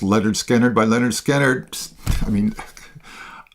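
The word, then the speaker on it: Lynyrd Skynyrd: Pronounced Leonard Skannard by Leonard Skannard.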